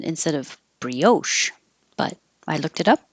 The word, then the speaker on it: brioche: say arugula arugula brioche I found out I've been putting stress on the wrong syllable I always said brioche bun instead of brioche but I looked it up and brioche this word for a